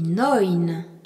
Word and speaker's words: neun: Quand le CH suit un A, un O ou un U sans tréma, il ne se prononce plus h, mais h. Acht. A-C-H-T. Le nombre 9 se dit neun.